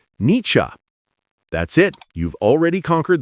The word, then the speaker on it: Nietzsche: The first part sounds like ni and the second part sounds like cha. So together, niche.